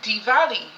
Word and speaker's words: Diwali: Like, I never knew about Diwali, and in India they do not pronounce W as W. They pronounce W as V. So even though it is the word in English would be Diwali, in India it's actually Diwali, right?